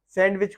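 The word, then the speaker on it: sandwich: होता है बहरहाल यहां इसमें दी साइलेंट है तो इसको हम पढ़ेंगे सैंडविच भी नहीं करेंगे जो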